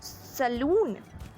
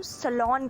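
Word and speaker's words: salon: आज का हमारा नेक्स्ट वर्ड है सलून नहीं इसे हम सलाम करते हैं जहां के जहां पर हम जाकर अपने बाल कटवाते हैं उस जगह को हम सलमान कहते हैं ना कि सलून ओके तो इसी सही प्रनंसीएशन है सलमान तो आप हाथ से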